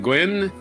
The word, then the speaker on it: Nguyen: They start with an N, but you don't pronounce the N.